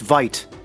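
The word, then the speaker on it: wyd: is that it was derived from the afrikaans word for wide pronounced vite describing the white rhino's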